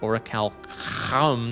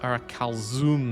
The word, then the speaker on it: Orichalcum: Orichalcum does not have an I before the U like calcium. Therefore, it is actually pronounced Orichalcum, not Orichalzoom, as you say. Otherwise, how would you pronounce Cucumber? No, cucumber, like encumber.